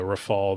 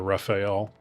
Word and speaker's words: Rafale: Pronunciation doesn't matter unless you're calling the Rafale the Rafael.